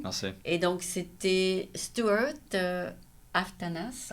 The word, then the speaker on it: Aftanas: Et donc, c'était Stuart Aftanas, on Ouais. prononce Ouais. le S à la fin, Ouais.